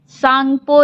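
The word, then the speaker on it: Tsangpo: है, जहाँ पे इसको सांगपो रिवर कहा जाता है। क्या कहा जाता है? सांगपो। सांगपो, टी साइलेंट होता है।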